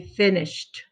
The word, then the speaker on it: finished: It makes the ed makes the t sound. So we say finished. See the t sound at the end?